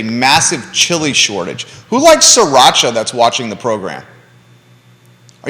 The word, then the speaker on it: sriracha: sriracha sriracha sriracha yeah but it's spelled sri yeah but it's sriracha like sri lanka sriracha um but a lot